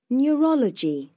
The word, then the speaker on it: Neurology: Neurology. Neurology. Neurology. 1, 2, 3, 4 và nhấn vào âm thứ hai.